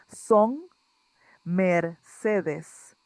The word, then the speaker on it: Son Mercedes: Yes, the title is Song Mercedes. We repeat, Song Mercedes. Thank you. So just to make a few notes, the N sound, and I think this